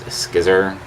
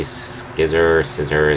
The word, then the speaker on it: Scizor: And then the next one is Scizor. I've never really known how to pronounce it. I usually just say Scizor, like scissor is cut.